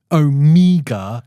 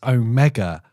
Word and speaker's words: Omega: It's not Omega, it's Omega. The E as in keg.